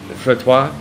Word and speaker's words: frottoir: I believe frottois.